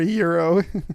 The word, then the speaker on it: gyro: Oh, that would be a gyro. Yeah. Or euro. Yeah, sure. How do you say it, David? I would say euro.